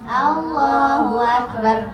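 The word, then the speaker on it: الله أكبر: Kesalahan yang sering terjadi di sini adalah haknya nggak jelas dan rohnya nggak tebal. Allahu Akbar, Allahu Akbar, nggak ada Allahu. Allahu Akbar. Di situ rohnya tebal. Kenapa tebal? Karena sebelumnya harokat fathah akbar, banyak fathah. Temu ro sukun jadinya tebal.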